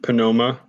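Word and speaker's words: pneuma: knife yeah in uh in greek you actually do uh put out the p and panoma because panoma is wind or spirit that's fine yeah pneumonia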